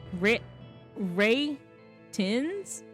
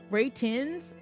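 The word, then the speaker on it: Retinz: It's like retins, but it's like I think it's supposed like retin retin. No, it's a pun on ratings. Ray tins. Ray tins.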